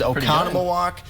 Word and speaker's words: Oconomowoc: How would you go about pronouncing this city in Wisconsin? Oconomowoc. I'd give that to him. Yes, it is Oconomowoc.